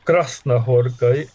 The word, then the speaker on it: Krasznahorkai: Por ejemplo, que tenemos este Premio Nobel, el acento recae en Crashna Horcay en la primera sílaba o primera.